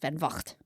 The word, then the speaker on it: Van Vogt: Van Vogt. Yes, Van Vogt. I practiced pronunciation.